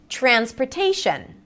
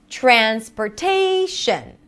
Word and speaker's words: transportation: Transportation. Transportation. Ta-da-da-da. Right? So really put it into notes and rhythmic patterns. Da-da-da-da. So again, if you're finding yourself doing something like da-da-da-da, da-da-da-da, then slow down, even record yourself, pause the video, record yourself, and say ta-da-da-da. Ta-da-da-da. Transportation. Transportation.